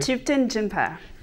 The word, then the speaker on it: Thupten Jinpa: Pronounce the name of the author for me. Thupten Jinpa.